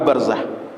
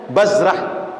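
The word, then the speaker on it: برزة: Sehingga mungkin saja orang bacanya bazrah. Zaid dulu baru ro. Imam Nawawi sayang dengan kita dikasih tahu huruf ro dulu pada zai. Sebab ro dengan zai itu bentuknya sama. Beda pada titik. Titik ini mungkin orang salah. Maka dibuat beliau bacaannya biraumma zai. Huruf nama sahabat ini barzakh ni bacanya ro dulu baru zai. Barzah jangan bazrah.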